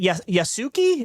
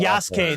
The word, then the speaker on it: Yasuke: Is it Yasuki? Is that how you say it? Kay? I don't know. Yeah, Yasuki is a samurai who plays more like Yasuke. Yasuke. Thank you. I knew I got that wrong.